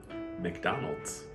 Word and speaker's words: McDonald's: 오늘 우리 함께 버터발음 공부해볼게요. butter. 오늘은 레스토랑 편입니다. Number 1. 맥도날드 아니에요. McDonald's.